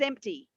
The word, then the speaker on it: empty: yes i'm saying it i am saying that p but it's i'm not focusing on it it's not a hard p it's uh it's just it's just there a little bit empty you will hear some people say empty um without the p at all so both are absolutely correct there's there's no problem